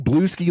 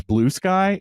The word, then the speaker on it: Bluesky: I didn't even realize I was saying it wrong until she looked at me funny, and I said, "Oh, it's Bluesky," and she goes, "Yeah, it's Bluesky."